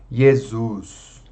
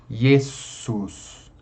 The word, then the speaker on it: Jesus: a nossa tendência é vozear esse S, falar Jesus, como se fosse um Z. Mas vamos tentar pronunciar desvozeadamente, né? Ou seja, uma consoante desvozeada. Jesus.